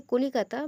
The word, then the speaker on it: কলকাতা: বাংলায় কলিকাতা বা কলকাতা নামটি প্রচলিত হলেও ইংরেজি ভাষায় এটি ক্যালকাটা নামে পরিচিত ছিল। 2001 সালে বাংলা উচ্চারণের সঙ্গে সমতা রেখে ইংরেজিতেও এর নাম কলকাতা রাখা হয়।